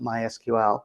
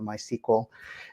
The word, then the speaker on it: MySQL: got enterprise linux and they've got mysql or my sequel depending how you want to pronounce that and i think you